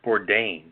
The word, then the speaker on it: Bourdain: I know we're going to cover this in our Hollywood celebrity segment, but Anthony, how you pronounce his name? Bourdain.